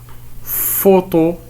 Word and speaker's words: photo: Photo, ici nous avons le son F, s'écrit par PH.